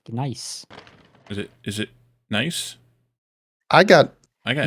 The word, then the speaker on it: Gneiss: It's so weird to hear you guys say niece when it's pronounced nice.